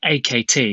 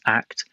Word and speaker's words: AKT: So most people call it AKT because they don't realise it's pronounced ACT.